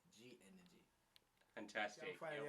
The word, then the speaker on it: G3n3xgy: And it is pronounced G Energy.